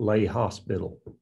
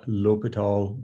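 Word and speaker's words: L'Hôpital: accent uh i yeah sometimes you'll see it spelled with an s put in there but it's an it's it's a silent s and h l'hopital does mean the hospital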